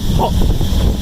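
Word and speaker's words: หก: 6 will be Hok. Yeah. H, it sounds like H-O-K.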